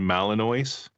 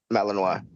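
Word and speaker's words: Malinois: Looks like Malinoi. Malino. That's how the French say it. Don't Yeah. Don't be gay as I'm American. It's a malanino.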